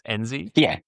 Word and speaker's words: Enzi: I forgot to ask, actually, before I hit record, am I pronouncing that correctly? It's Enzi? Yeah, you got it right, Enzi.